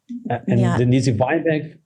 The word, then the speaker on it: Denise Weinberg: Denise Weinberg is Brazilian.